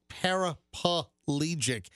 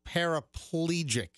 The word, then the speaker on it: paraplegic: to go grocery shopping it's not parapalegic it's paraplegic so here's the problem you're adding an extra syllable here's the problem you're adding an extra syllable to that word did you yell at